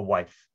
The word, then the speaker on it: Wythe: veneer of brick that form a wife but it's also can be pronounced with and i think that